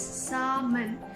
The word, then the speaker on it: salmon: We don't say salmon. It's salmon and almond.